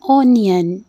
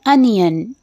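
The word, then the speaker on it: onion: करते हैं प्याज की प्याज को बहुत से लोग मिस प्रोनाउंस करते हैं ओनियन जो कि बिल्कुल गलत है इसकी एजेक्ट प्रोनंसिएशन है अनियन आप मेरे साथ रिपीट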